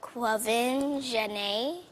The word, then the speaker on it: Quvenzhané: On me dit comment tu le prononces? Comme... Quvenzhané.